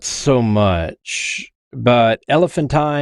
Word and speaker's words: Elephantine: not so much but elephanttine and I've also heard it pronounced elephantine uh this was a